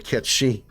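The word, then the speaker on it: Cait Sith: This one here with a catch she. But it's because it's what it's actually pronounced as. I don't care what they say in Remake and Rebirth. It's catch she. That's how you pronounce it.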